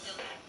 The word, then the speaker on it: Delia: Yeah, well, I pronounce the E like an I, so Delia.